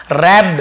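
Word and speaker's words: wrap: कम करना ठीक है रैप यहां पे व साइलेंट होता है लेकिन हम इसे लिखेंगे जरूर पढ़ेंगे वो नहीं पढ़ने में केवल रबड़ रबड़ यानी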